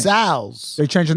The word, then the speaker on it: Cazals: You talking about Gazelle? You're talking about Cazals, but you're saying it incorrectly, like everyone did. Gazelle. This one, I'm gonna give you this one because everyone said it wrong.